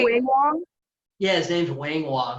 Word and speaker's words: Wing Wong: But Doc, I've known for a long time because, see, I used to own a wedding venue, and this dude named Wing Wong.